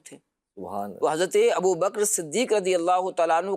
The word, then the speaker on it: ابو بکر: لیکن یہ لفظ جو ہے وہ بکر ہے، ابو بکر، یعنی کاف کے اوپر جو ہے وہ جزم ہے۔ تو بہرحال زبان کے